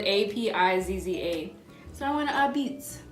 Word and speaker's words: apizza: So I went to APIZZA. I thought at first it was like a pizza, but it's APIZZA. It has like that B. The P is a B.